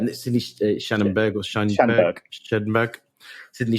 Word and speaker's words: Schanberg: Shannonberg. Sydney Shannonberg or Scheinberg. Sydney Schanberg.